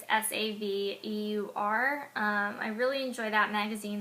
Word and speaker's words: Saveur: I also like Savior. I think that's how you say it. It's Saveur.